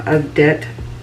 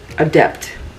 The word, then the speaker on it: Adept: Amy loves palette from abet adet abet I feel like I'm always saying his name wrong abep adep Adept is a p silent is a t silent abep Adept Cosmetics this